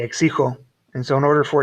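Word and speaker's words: México: a hard g so if you leave this guy as a g it would be x sigel and that's not how you say the word you say exico and so in order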